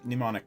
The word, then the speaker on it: mnemonic: it uh spell it mimi uh trail yes spell it for me m-i-m-e no m-n-e-m mnemonic n i see got it mnemonic betrayal there it is yes yeah so